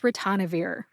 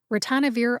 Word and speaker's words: ritonavir: final drug today is ranir ranir also has four syllables RI like wrist tan which rhymes with John N as in the